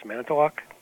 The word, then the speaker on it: Manitowoc: Yes, Manitowoc.